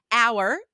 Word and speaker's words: hour: this will help because these are all silent H's in French, right? There you Honnête. go. Yes, silent H in French, silent H in English.